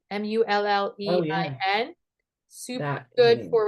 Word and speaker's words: mullein: Mullein, Oh yeah, Mullein.